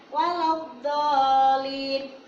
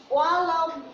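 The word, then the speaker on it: وَلَا الضَّالِّينَ: Dan mohon untuk Bapak Ibu guru, ketika pengucapan waladdallin, nah anak-anak sering ini dianggapnya waladdallin, padahal di sini ada tanda matnya. Dan setelah itu ada tasydidnya, jadi harus tebal dan ditekan.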